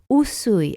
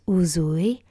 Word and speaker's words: Usui: Usui and not Uzui.